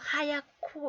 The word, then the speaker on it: 하얗고: 하얗고 이렇게 소리가 나요. 또 하나 더 볼까요? 이번에는 히읗 받침과 지읒 치치치 발음으로 난다 했어요.